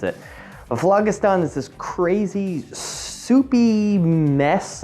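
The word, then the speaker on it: phlogiston: of something known as the flajustan or flagastan depending on how you want to pronounce it but vlagistan is this crazy soupy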